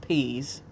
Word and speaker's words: PZ: quote pz in quote which is pronounced peas who is patrick howard